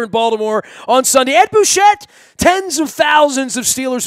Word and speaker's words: Bouchette: Find him at Ed Bouchette. That's 2 T's and the silent E on the end out on Twitter and at the Post-Gazette and KDKA and 93.7 up in Pittsburgh.